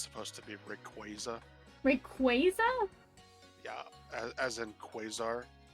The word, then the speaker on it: Rayquaza: because i was saying rayquaza no no i would say replaza instead of rayquaza but like i don't